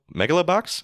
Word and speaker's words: Megalobox: Megalobox?